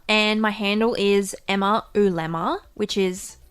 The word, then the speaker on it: oolemma: You can find me on Twitter, and my handle is Emma Ulemma, which is, it's actually the outer surface of an egg is an ulemma, and it rhymes with my name.